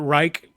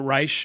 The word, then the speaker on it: Reich: chart this chart to show you from Robert Reich. He says his name wrong. He says Robert Reich, but everybody knows it's Robert Reich.